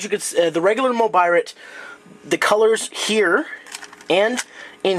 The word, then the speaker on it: Mobirate: probably the proper pronunciation but uh it's not a mobile 8 it's a mobirate if you're going to